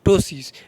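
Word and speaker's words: ptosis: sign symptoms क्या है तो टोसिस पी यहां पर साइलेंट रहेगा इसको याद रखिएगा पी क्या है साइलेंट है टोसिस टोसिस इसका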